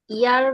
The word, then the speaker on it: ihr: ইয়া, হ্যাঁ, আরটা একটু 30% উচ্চারণ করবেন, তাহলে হয়ে যায় ইয়া।